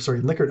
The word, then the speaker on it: Likert: So if you've worked with Likert exams, Likert items is the correct way to say it, where you say rate this on a scale of 1 to 5.